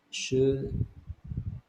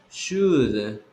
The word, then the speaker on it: should: Is should Should. should Should positive. should Don't pronounce the L.